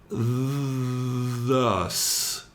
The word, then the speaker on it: thus: And the second word is the voiced part of the pair, thus. Really concentrate on making sure you get the S on the end.